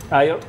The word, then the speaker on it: aglio: It actually is A-G-L-I-O, But the and O the G is silent? the G silent, aglio, not the O.